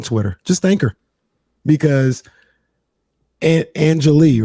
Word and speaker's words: Anjali: at 90 on twitter just thank her because angelee right that's that's how you say her name angelique ranadevae anjali yep angeli ranadive yesterday joined the kings family